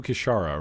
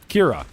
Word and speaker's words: Kira: need to go do kashara right wait it's not kishara I'm saying the name wrong I'm sure I am Kira I need to go get Kira that's right and then from there